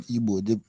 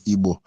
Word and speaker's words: Igbo: That word Igbo is the original pronunciation is not Igbo. The pronunciation is Igbo, and that word is the name of a deity.